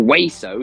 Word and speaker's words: Weso: No, Weso. It's not way. But yeah. Okay. Let's. So the official pronunciation, it's Weso.